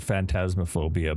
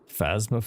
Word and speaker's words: Phasmophobia: I always call it phantasmophobia, but I think it's phasma.